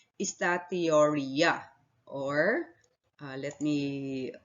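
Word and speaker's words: steatorrhea: are instead excreted in feces a condition called estatioria or let me spell it out for you s t e a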